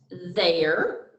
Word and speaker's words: there: as in here but work together to stand for the sound e r as in where so when you're reading